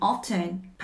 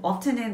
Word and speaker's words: often: Always, usually, often. often은 발음이 두 가지입니다. often도 되고 often도 되고 F를 강조할 수도 있고 T를 강조할 수도 있어요.